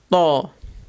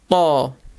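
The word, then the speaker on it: ط: Letter Ta, Ta. This is a very emphatic T sound.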